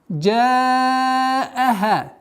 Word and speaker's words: جاءها: Джааха. Джа удлиняем в размере 4 огласовок, то есть фатха удлиняем в размере 4 огласовок.